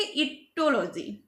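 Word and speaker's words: aetiology: बोलेंगे पैथोलॉजी then इटोलॉजी ये spelling इसके हमने देख लेने हैं इसके स्पेलिंग ए से स्टार्ट होते हैं ए लेकिन हम इसको बोलेंगे इटोलॉजी इटोलॉजी पैथोलॉजी के अंडर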